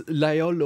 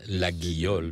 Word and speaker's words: Laguiole: Yes, in the southwest of France we pronounce Laïol because this name comes from a local language meaning little church, and Laguiole because it's the phonetically it's the name of the place and of the knife.